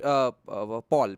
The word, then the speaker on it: Paul: So and yeah, Vaibhav, he pronounces it Paul, P-A-U-L. The spelling is P-A-U-L. Okay, in Bengali we call it Pal.